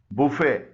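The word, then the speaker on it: buffet: से निकल रही है टी कुछ अल्फाज में साइलेंट भी होता है जैसे इन फ्रांसीसी जबान से अखज किए गए अल्फाज में खामोश है बैले गोर मेंे रेपो बुफे डेब क्रोशे बैरे वगैरह में टी साइलेंट है इसके अलावा भी टी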